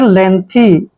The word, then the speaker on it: lengthy: Next word LENGTHY, एल का उच्चारण ले करते हैं, ई को ए की मात्रा पढ़ते हैं, एन को आधा न, ठीक है, और यहाँ पे देखिए जो जी है ना इसको हम साइलेंट रखेंगे, ठीक है, और THY को थी पढ़ेंगे, ठीक है।